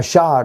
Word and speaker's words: Jasher: book of Jasher yeah shot is actually how you pronounce this and I know there's